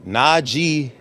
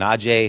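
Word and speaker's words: Najee: I going tweet out it's na G not n j it's Naj it's it's important you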